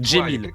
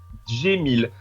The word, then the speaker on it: Cemil: Comme tu l'as prononcé, Djemil, avec un G. Djemil. Voilà. Vous êtes tous habitués à Jamel, par exemple. Bah, c'est pareil, sauf que ça s'écrit pas pareil.